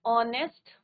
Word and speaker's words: honest: हम, राम इज एन ऑनेस्ट बॉय, राम इज एन ऑनेस्ट बॉय। तो यहाँ पे क्या होगा बच्चों, एच is just silent, but आपका क्या आ रहा है बच्चों, एन ऑनेस्ट।